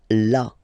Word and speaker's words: là: So remember you've got this accent, but well, you don't pronounce it. Okay, so it's là.